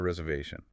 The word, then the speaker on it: reservation: The stress is really on that third syllable, the VA. Let's all say it together, focusing on that clear V sound. I have a reservation.